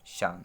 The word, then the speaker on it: Tsan: था, तो 1965 में सान ने किया था। यहाँ पे टी साइलेंट है, TSAN स्पेलिंग है, यहाँ पर टी क्या है? साइलेंट है और इनका नाम शान है।